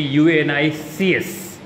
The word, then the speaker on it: Unix: So Unix generally it is referred as actually it is called as we write as a Unix but actually it will be unic right so that also if you pronounce what will come unic right so that's why